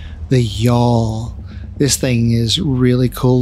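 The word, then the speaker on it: Gjall: up is the y'all that's how you pronounce that the g is silent and the J sounds like a y the y'all this thing is really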